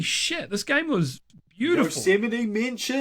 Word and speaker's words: Yosemite: Yeah, dude, Yosemite? Yes. That's crazy. I did unironically pronounce it Yosemite at one stage.